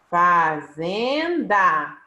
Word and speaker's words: fazenda: Ah, aqui nós temos, ó, fazenda. A sílaba tônica, zen.